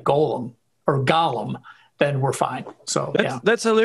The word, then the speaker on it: Gollum: And in Lord of the Rings, it's Gollum, spelled differently, pronounced differently.